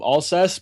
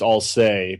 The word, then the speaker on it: Alcest: Alcest. Um, a lot of people call it call them all cess, but apparently I've been told it's all say because they're French.